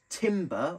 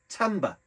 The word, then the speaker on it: Timbre: call the sounds um although it's spelled as if it was to say timber or Timber or Timber Etc um I've done research and it's actually pronounced Tamba so it's just a